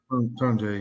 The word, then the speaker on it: Tonje: Tonje, yeah.